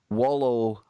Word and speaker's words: Wallowa: in the waters of Wallowa Lake in Oregon. I have real problems saying that. Scott, how do you say that then? Wallowa. It sounds like it's from Hawaii. Wallowa.